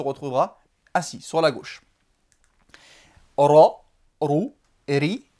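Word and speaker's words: ر: Le ra, le R roulé, qui existe dans la langue espagnole par exemple, mais qui n'existe pas dans la langue française.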